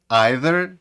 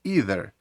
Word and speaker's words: either: слова neither чи neither either чи either до речі як правило у Британській англійській ці слова вимовляються neither і eitherh у американській англійській дуже часто їх вимовляють як neither і either тому вимова залежить від